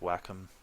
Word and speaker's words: Wacom: on the Wacom tablet apparently it's pronounced whack I went to their actual site watch their video and that's what they call it I kind of wish